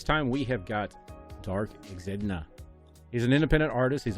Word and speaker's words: Exidna: I always tell everybody it's Exidna, but yeah, it's a quick, a nice little mental game that that setup of letters makes people either just say Exidna. It doesn't. A lot of people cannot say it right, so I kind of picked it for that.